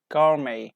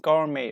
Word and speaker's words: gourmet: ballet, gourmet, or rapport, which all copy the French pronunciation without T, like we say ballet, gourmet, ballet, gourmet, rapport, okay, rapport, without T.